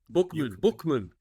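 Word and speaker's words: Buchman: You Bookman, Bookman, thank you, Bookman, Bookman, yeah.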